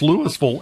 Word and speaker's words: Lewisville: If you're familiar with Louisville, Kentucky, you mispronounce it and somebody says, "No, this one's pronounced Lewisville." And you're done.